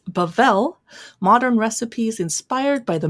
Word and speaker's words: Bavel: Well, I just got back from checking the pronunciation of this restaurant. It's Bavel, Modern Recipes Inspired by the Middle East.